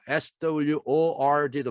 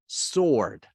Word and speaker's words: sword: 그리고 우리가 SWORD도 발음 문제 잘 나오는데 sword 아니고 sword. 여기서는 sworn, 여기서는 sword 이렇게 발음이 되죠.